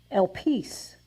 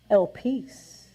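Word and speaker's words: ἐλπίς: It is pronounced elpis. Let's say it. Elpis.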